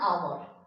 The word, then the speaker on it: hour: And the next sentence, I spent an hour. Hour consonantal same letter H O U hour, but also having the same vowel sound, and it starts with the vowel sound.